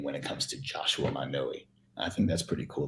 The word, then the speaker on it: Manoi: MANOI. MANOI. So right, you say it again. MANOI. So MANOI. Yeah, in Hawaii, the vowels have to be specifically pronounced.